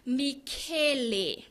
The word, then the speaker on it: Michele: And I googled how do you say his name because we know he's Italian and it is Michele.